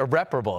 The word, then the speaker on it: irreparable: I think that the Giants probably felt like this was a, what would I would say, irreparable, kind of situation, irreparable. That's how you say it.